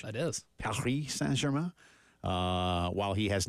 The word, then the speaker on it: Paris Saint-Germain: That's how they say it in French. That is. Paris Saint-Germain.